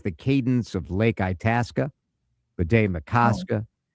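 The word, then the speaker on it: Bde Maka Ska: Bidet Makaska.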